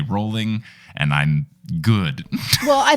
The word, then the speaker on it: Rowling: to the point where if I say Rowling incorrectly I will retake it on the audio where before us just whatever but now now you know I'm a true Harry Potter fan because I say rolling and I'm good well